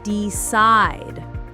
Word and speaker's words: decide: Most two syllable verbs have stress on the second syllable.